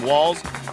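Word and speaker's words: Walz: From Minnesota, where nobody told us the guy pronounces his name Waltz, this is Ballot.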